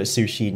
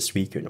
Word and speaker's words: Suicune: Yeah, I used to call it Sushin until it was in one of the programs or something, and they called it Suicune.